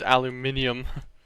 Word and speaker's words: aluminium: Oh, it's aluminium. Pronounced like how the British say it for some reason.